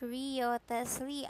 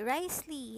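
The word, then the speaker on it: Wriothesley: I thought his name pronounced as Rio Tesley. I don't know, but it's Risley or what do you call that? Risley or Risley? Risley, yeah.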